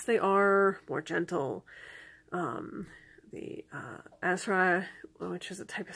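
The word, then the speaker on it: Asrai: The Asra, which is a type of Scottish fairy, maybe mispronouncing that slightly, A-S-R-A-I is how it's spelled.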